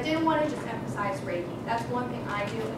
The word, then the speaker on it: Reiki: It's Reiki. Yeah, It's spelled R-E-I-K-I, pronounced Ray.